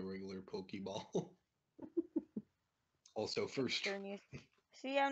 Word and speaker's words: Xerneas: I caught Xerneas with a regular Pokeball. Also, first try. Xerneas.